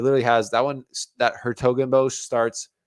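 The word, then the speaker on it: 's-Hertogenbosch: That Hertogenbosch starts. It's like apostrophe S dash H. Oof. Hertogenbosch. It's like a silent S.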